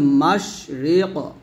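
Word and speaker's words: مشرق: মাশরিক, এই কফ উচ্চারণ করতে গেলে অবশ্যই আমাদের কি করতে হবে, কলকলা করতে হবে।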